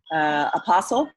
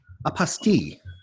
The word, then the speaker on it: Apostille: Apostle. How do you say that? Apostille. Apostille. I just learned that from Laura. It's a French word.